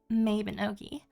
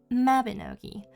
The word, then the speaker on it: Mabinogi: or a little game I like to call Mavenogi or what the normal people call Mabinoi.